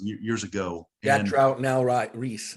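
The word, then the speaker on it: Ries: Jack Trout, now Reese. It's pretty. It okay. looks like it's spelled Rise, but it's pronounced Reese.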